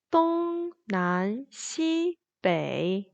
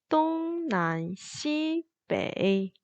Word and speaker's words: 东南西北: 1성, 2성, 1성, 3성입니다. 동난시北, 동난시北.